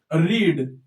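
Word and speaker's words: read: The book is रीड। यह रीड ही होगा। इसे रीड ही बोलेंगे हम क्योंकि इसकी स्पेलिंग चेंज नहीं होती है। केवल हमारा प्रोनाउंसिएशन चेंज होता है। रीड रेड रीड क्या बोलेंगे?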